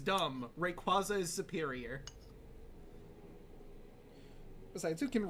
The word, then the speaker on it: Rayquaza: Just like with Rayquaza being Rayquaza, I call him Rayquaza.